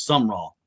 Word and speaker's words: Summerall: It's Summerall. It's Summerall. There's not an E in there.